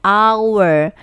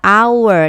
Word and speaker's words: hour: Nah untuk ini cara bacanya bukan ya tetapi cara bacanya our. A a our a kan huruf vokal ya. bunyinya vokal hour.